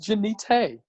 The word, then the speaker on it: Genita: You know, with my Ebonic drawl, I mean, am I saying it right, Genita? You're saying it exactly right. Okay. That's it, Genita. I thought you were gonna say no. It's pronounced Genita.